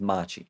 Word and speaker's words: Machi: here because i don't want to get her name wrong yes it was machi like i was saying that could have been